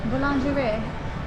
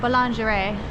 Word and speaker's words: boulangerie: Boulangerie. Say it in a French accent. Boulangerie.